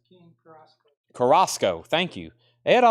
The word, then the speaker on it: Carrasco: And Joe King Carisco, how do you say his last name?